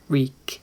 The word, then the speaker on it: Reek: man than reek reek reek it rhymes with we so while theon's thoughts